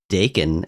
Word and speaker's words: Dakin: Somebody be like, it's actually pronounced Dakin.